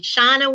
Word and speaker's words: Shawano: Shawano, Wisconsin, I've been there, I know how to say it.